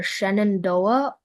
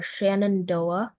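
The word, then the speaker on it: Shenandoah: Uh, it's either Shannondoa or Shannondoa.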